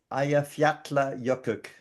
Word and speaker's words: Eyjafjallajökull: But I understand from the internet that it is pronounced Eyjafjallajökull.